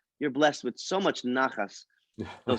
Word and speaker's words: nachas: Okay, Nachas. nachas. So Okay. again, you have the it's NACHAS. The Uh-huh. CH is pronounced like you said, Julio, Yes. as if you have something stuck in your throat.